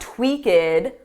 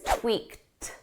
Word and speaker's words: tweaked: But because the verb ends on a k, we need a soft t. So it's not tweaked, that's incorrect. It's tweaked, tweaked. But when you use this in a sentence and there are words after, you're going to drop that T sound entirely.